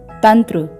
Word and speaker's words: तंत्र: वहां उसका उच्चारण होगा यहां पर संयुक्त व्यंजन त्र का पहला व्यंजन हलंत त है त त वर्ग का व्यंजन है इसलिए यहां पर पंचमाक्षर हलंत न का प्रयोग होगा और इसका उच्चारण होगा तंत्र आगे देखते हैं पंथ